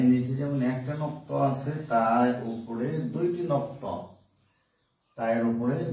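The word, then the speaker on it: ت: বায়ের নিচে যেমন একটা নক্ত আছে, তার উপরে দুইটি নক্ত, তার উপরে দুইটি নক্ত, এটাকে আমরা বলি তা।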